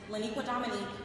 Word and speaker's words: Leniqua Dominique: Leniqua Dominique is one first name. I'm going to pause let you get your pen and your paper. 16 letters, six syllables.